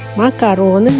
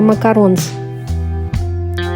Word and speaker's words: макарон: А у меня десерт макароны ручной работы. Правильно говорить именно макарон, не макаронс.